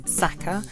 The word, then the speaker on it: Sachar: Even there's a link to see how to pronounce his name, and it is Sachar, rhymes with cracker.